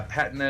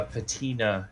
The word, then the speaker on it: patina: the more americanization yeah patna is british uh patina is american okay so we're both